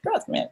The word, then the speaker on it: Radzan: Is it Radzan? Just like it sounds. I mean, just like it's spelled.